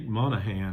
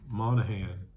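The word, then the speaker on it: Monaghan: And I don't know if you can see the actor, but his name is u Dominic Monahan, I guess is how you say it. Monahan.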